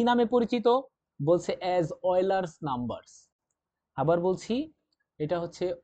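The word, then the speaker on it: Euler: নামে পরিচিত, বলছে অ্যাজ অয়লার্স নাম্বারস। আবার বলছি এটা হচ্ছে অয়লার্স নাম্বারস বলা হয়, যদি বাংলায় উচ্চারণ করতে চাও সেটা কিন্তু অয়লার্স নাম্বার দাও, নট একটাই তো। আচ্ছা এটাকে আমরা বলবো অয়লার, অয় লার।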